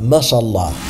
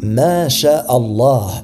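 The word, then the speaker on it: ما شاء الله: Dire Mashallah. Le dire de cette façon signifie Dieu a marché, et c'est une très grave erreur. Ce qu'il faut dire c'est Ma, ce que, Sha a voulu, Allah. Ma Sha Allah, et non pas Mashallah. Maintenant, quand faut-il le dire?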